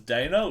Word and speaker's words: Dana: I'm going to pronounce the first artist as Dana, which is like D''ANA.